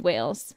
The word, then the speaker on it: Wales: Yeah, the 69% is the Celtic origin, which is combined Scotland, Ireland, and Wales.